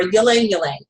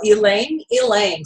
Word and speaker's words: ylang ylang: it Lang langang or Y Lang y Lang it's actually the Y is a strong e so now you know how to pronounce this cool oil elang elang so what do we